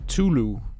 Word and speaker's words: Cthulhu: hideout the eye of Cthulhu they actually they pronounce that Zulu but I think do